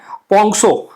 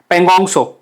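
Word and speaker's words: Pangong Tso: पोंगसो, पेंगोंगसो, sorry पेंगोंगसो, पेंगोंगसो है। और सोमोरारी है। सो आपको पता है टी तो साइलेंट होता है यहाँ पे।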